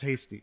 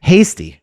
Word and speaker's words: Heasty: It's pronounced hasty. Hasty. Okay, but there's an E in there. Yeah, everybody makes that mistake. Even close friends sometimes get it wrong and it's fine. It's hasty.